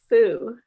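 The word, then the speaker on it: 蝠: happiness because in chinese the word bat is pronounced fu and the word for happiness is also foo and playing with words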